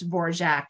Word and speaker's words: Dvorak: quote from Anne saying my name is properly pronounced version the D is silence so um I think